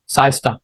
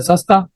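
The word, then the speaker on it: siesta: मिड डे नेप आर रेस्ट इन hot countries like Pakistan, that is साइस्टा। ठीक है, तो that you can pronounce it एज सस्ता।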